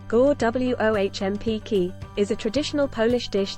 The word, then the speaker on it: Gołąbki: Golapki, pronounced Gołąbki, is a traditional Polish